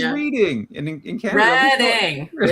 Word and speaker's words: Reading: It's pronounced reading. Is it the same? Like I read the book last week.